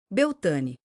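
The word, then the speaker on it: Beltane: Beltan pronunciado Belta, um festival de maio que significa o pico da primavera e a altura da fertilidade.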